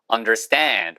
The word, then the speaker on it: understand: Understand 보세요. understand 발음난 주의. Understand라고 하는 언어인 한 명도 없어요. Understand 하고 댄을 살짝 길게 하시면 돼요.